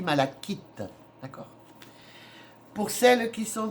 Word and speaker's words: malachite: Et retenez le nom, hein, c'est de la Alors, ça s'écrit malachite, mais ça se dit malachite.